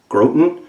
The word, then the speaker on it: Groton: came from Groton Connecticut I think is how you say it G ro t o n grote n' 1954 when she cast